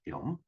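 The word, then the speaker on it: genome: 자, 인간 유전체 프로젝트, 휴먼 지놈 프로젝트 HGP네요. 이 프로젝트는 2003 년까지 인간 지놈에 있는 이 지놈 이게 원래는 이제 영어로 발음하면 지놈입니다. 근데 독일어로 하면 게놈이죠, 게놈.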